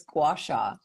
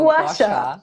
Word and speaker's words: gua sha: I can never pronounce gua. Whatever. It's so cute. It's gua sha. So gua sha.